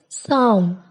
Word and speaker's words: psalm: Letter P is silent at the beginning of many words using the combinations PS and PN. For example, psalm, psychology, pneumonia, pneumatic.